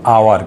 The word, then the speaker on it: hour: যদি না হয়, দেখো এখানে এইচ আছে, এইচের উচ্চারণটা হচ্ছে না, এখানে HOUR, হাওয়ার না, এটার উচ্চারণটা হলো আওয়ার।